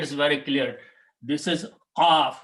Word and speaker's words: qaf: This is qaf, which come out from the throat, qaf, and kaf, which come out from the front of the mouth.